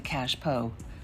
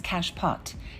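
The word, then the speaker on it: cache-pot: so what is a cash po frequently mispronounced as cash pot it's a French term for what is usually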